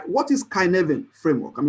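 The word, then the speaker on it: Cynefin: framework right what is kyen framework I mean it's called kyen I mean sounds like Cy whatever but I mean it's a Welsh word but it's pronounced as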